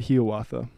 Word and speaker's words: Hiawatha: asking last week but is it really he author as opposed to hiawatha that Longfellow himself pronounced that he oughta oh so now he's